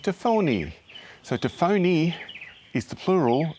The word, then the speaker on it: tafoni: And so I'm choosing to go with an Italian kind of pronunciation, so Tafone and Tafoni.